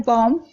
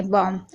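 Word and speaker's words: bomb: अब जैसे कि आप देख रहे हैं बॉम्ब, यहाँ पर देखिए एम से पहले वी है, यानी बी से पहले एम है, तो यहाँ पर बी साइलेंट है, बॉम्ब।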